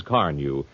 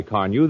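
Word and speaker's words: Carnu: And I'm glad to tell you that with Johnson's Carnew, you can keep your car looking its best, polished and shining with a very minimum of work.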